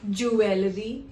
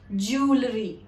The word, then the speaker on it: jewelry: The correct way to pronounce it is jewelry. The sound of E is actually oo, jewelry.